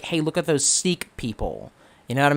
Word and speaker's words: Sikh: it's like I know the actual pronunciation of the religion is sick but when you're like